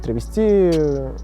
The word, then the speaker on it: травести: Изначально термин с ударением на последний слог, то есть травести, пришел к нам с театральных подмостков.